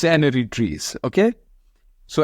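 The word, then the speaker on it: n-ary: is not usually pronounced if you want to pronounce it fine enough so it's enery trees okay so enery trees means the n stands for the number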